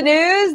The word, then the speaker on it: Gnooze: Flor hello and welcome to the news the g is silent Barack Obama and Oprah